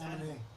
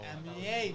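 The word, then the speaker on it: Aminé: I always say his name wrong. You always tell me how you say his name. It's Anime. Anime. Yeah. No, Aminier. Anime. Okay. Amanye. Amine, there we go.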